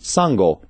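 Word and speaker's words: sangō: got Beyond three issues although written with different ideographs three cups and three issues are both pronounced Sango thus giving rise to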